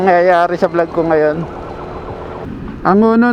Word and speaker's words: Angono: Angona na o angono ko alam yung pronounce dito kasi yung ibang tiga rito angono ang pronunciation ng kanilang lugar.